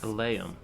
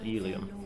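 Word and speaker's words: Eleum Loyce: Elaeum, not Elium. I've been saying it wrong all this time.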